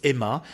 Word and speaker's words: aima: Donc c'est effectivement M-A, hein, se prononce Emma comme un mot.